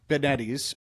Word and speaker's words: DeBettignies: Benettes. Rhymes with spaghetti.